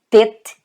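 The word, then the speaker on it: טית: Então tá aqui a forma que você lê, Tet.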